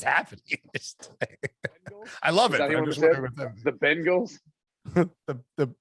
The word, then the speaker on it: Bengals: do you say that how do you say bengals by the way bengals bang bangles no that's the band it's the bengals what do you say